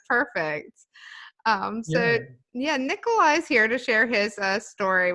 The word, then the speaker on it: Nikolai: Nikolai is the way you spell it, but it's actually Nikolai.